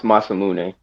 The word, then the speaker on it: Masamune: Yo, it's pronounced Masamune.